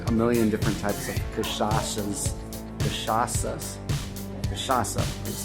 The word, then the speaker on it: cachaça: This place has like a million different types of cachaça is how you say it, which are what they use to make the caipirinhas.